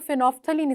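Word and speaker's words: phenolphthalein: इसके स्पेलिंग में फिनोल और फिर थैलीन आता है, लेकिन आप एल भी साइलेंट कर दें तो फेनोफ्थलीन इसका ओरिजिनल नेम है।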